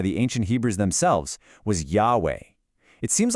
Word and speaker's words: Yahweh: The common pronunciation Jehovah is actually incorrect.